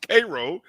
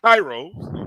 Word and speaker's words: Cairo: make sure I say it right it's called pronounced Cairo not Kairos okay Cairo Georgia but he's also the assistant